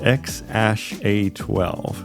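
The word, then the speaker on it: X Æ A-12: They say it's pronounced X-A-12.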